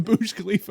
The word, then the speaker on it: Burj Khalifa: You made the Burj Khalifa in the sound I waves.